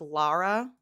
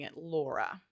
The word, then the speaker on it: Lara: So like Lara Lara is the name I think and like Mrs. Gorski is pronouncing it Laura which is how I'm sort of pronouncing it. There's like a distinct difference.